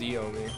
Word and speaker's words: Hiomi: I thought it was Eomi. Or Eomi, right. Yeah. I don't know why. The H is silent.